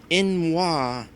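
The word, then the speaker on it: n'wah: Okay, so first things first, in regards to that last swear that Beerforce mentioned, Beerforce says it's from Morrowind, pronounced like Inwa, and basically means outsider or heathen.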